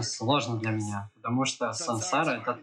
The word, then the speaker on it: saṃsāra: Поэтому М с точкой снизу просто значит сансара.